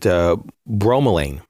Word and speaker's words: bromelain: And I pronounce it bromelain. Bromelain. Some people call it bromelain, whatever.